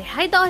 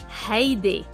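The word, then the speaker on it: هيدي: Do I say hayda or hayde? Hayde.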